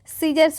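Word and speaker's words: scissors: large pair of सीजर्स यहां पर एस जो है साइलेंट होगा सीजर्स पढ़ेंगे ठीक है क्या पढ़ेंगे सीजर्स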